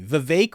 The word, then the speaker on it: Vivek: some people correcting me Vivek rhymes with cake I believe he said